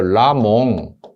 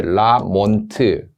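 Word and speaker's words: Lamont: 걸 라몽 보일 베록스 라몽 라트는 발음상의 문제인데요 라몽 트를 묵음으로 해서 라몽 이렇게 나오는 경우도 있고요 영어식 반음으로 몬트 이렇게 라몬트 그다음에 두 개를 거의 중간 입자로 몽트 이렇게 출제가 되는데 원래 식 하든지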